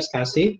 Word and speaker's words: SCSI: Nah, contoh-contoh disk attachment yang sifatnya host attached ya, misalnya menggunakan SCSI gitu ya, SCSI ya, dibacanya SCSI ya.